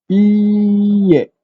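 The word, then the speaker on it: いいえ: Cara baca pun dia akan jadi macam stop lah belakang kan. Dia tak ada panjang.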